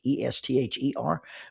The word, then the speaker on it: Estill: Now, the official name of Estill Fork is Esther Fork, Esther, but it is spelled Estill.